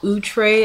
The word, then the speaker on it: Outre: do a review on the duveza utre as they like to pronounce it um remy human hair